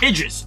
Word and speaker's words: Idris: Idris.